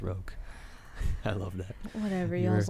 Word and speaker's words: roque: It's pronounced roque.